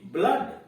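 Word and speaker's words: blood: या बड़ी ऊ नहीं होता है, कुछ और उच्चारण हो जाता है। जैसे beer, double O डी, ब्लड, यहां तो नहीं हुआ ऊ, ब्लड सीधे कर रहे हैं, ब्लड, खून।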